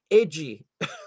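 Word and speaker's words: Reidy: very important um alfonso reedy his name comes from england actually but in brazilian portuguese his last name is pronounced edgy which is you would never guess as an american but uh he was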